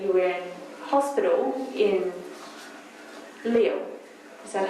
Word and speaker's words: Lille: and that you were in hospital in Lille. Is that how you pronounce it? Lille, Yes?